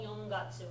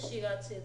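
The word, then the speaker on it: 四月: It's never called yongatsu when you're talking about the month of April.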